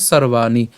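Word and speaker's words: সর্বাণি: এখানে রেফ আছে তো রেফ থাকলে র হসন্ত পর্যন্ত আমরা উচ্চারণ করব তাহলে তার উচ্চারণ কি হবে সর্বানি এরপর সংমিয় এখানে ইয়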